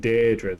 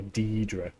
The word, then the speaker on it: Daedra: Yeah, I just love in Oblivion where instead of saying Daedra, they say Deidre half the time.